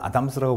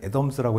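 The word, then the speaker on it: Adams: 보통 이제 국내에서는 아담스라고 부르는데, A라고 해서 아담스라고 읽기에는 좀 너무 발음이 좀 너무 딱딱해서 사실은 애덤스라고 해야 됩니다.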